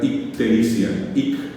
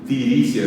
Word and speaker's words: ictericia: No va a poder pronunciar ictericia, ictericia, porque en guaraní las palabras, las sílabas y las palabras nunca terminan en consonante. Va a decir tiricia, decimos nosotros en Paraguay, tiricia, T-I-R-I-S-I-A, tiricia.